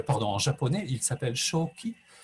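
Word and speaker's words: 鍾馗: en japonais il s'appelle shoki shoki c'est la lecture japonaise de ces deux idéogrammes excusez moi la lecture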